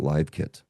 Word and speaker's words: LiveKit: It's spelled the same but pronounced differently based on the context.